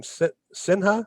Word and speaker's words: Sinha: Last name Sinha, is that how to pronounce it? That is right, Sinha, S-I-N-H-A.